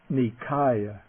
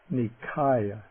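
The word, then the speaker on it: Nikāya: Then the dental nasal. Okay. The first N here the word meaning group or body. Nikaya. Nikaya.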